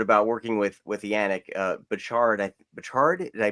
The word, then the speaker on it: Bouchard: Bouchard? Did I pronounce his last name correctly? Yannick Bouchard. Bouchard.